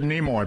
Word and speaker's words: Nimoy: Because I have always pronounced it Nimoy, but Nimoy. You pronounce it the way my brother does.